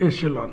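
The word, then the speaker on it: echelon: बहुत से लोग इकलन इकलन पढ़ते हैं। इकलन नहीं है। यह एसलॉन है।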